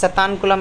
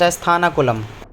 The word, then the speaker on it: Sathankulam: Place सतानकुलम is pronounced एस थानाकुलम।